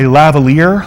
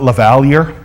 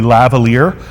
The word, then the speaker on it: lavalier: microphone you've also have a lavalier that's how you pronounce that not lavalier I've heard people try and pronounce it lavalier but it's actually lavalier a lavalier is the